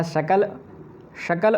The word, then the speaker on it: शकल: अगर हम उच्चारणों को नहीं जानेंगे तो शकल और सकल में अंतर हो जाएगा। इसलिए इस शा में और इस शा में अंतर आपको रखना होगा, तभी आप समझ